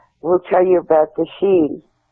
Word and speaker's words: Sidhe: Any Irish person you talk to will tell you about the Sidhe. It's pronounced different than it's spelled.